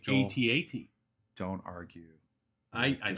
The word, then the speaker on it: AT-AT: That is how it's pronounced. Yes. Please don't screw it up. You will not. It's not an AT-AT?